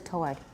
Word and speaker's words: toward: 它是英式，美式是 toward. Everyone? Toward. Toward. No W. Toward. No W at all.